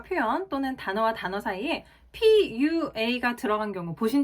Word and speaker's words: PUA: 생각이 저도 스쳤단 말이죠 자 그런데 푸아라고 읽지 않습니다 정확하게 pua라고 읽어 주셔야 돼요 뭐 예를 들어서 워페이